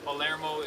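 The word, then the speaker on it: Palermo: So, Pymo is if you're saying it in Spanish. Polarmo is how the Italians would say it.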